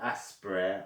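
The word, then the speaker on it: Aspyr: I think the right pronunciation for that developing company is called aspire. It was just spelled in a creative way.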